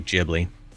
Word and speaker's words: Ghibli: It's pronounced with a J. Ghibli.